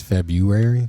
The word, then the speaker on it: February: I think everybody says February. Oh, February. Okay. But you're pronouncing the R. There is an R.